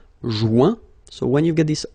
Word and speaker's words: joint: Joindre, joint, rejoindre, rejoint. Okay, same thing, final T not pronounced. Joint.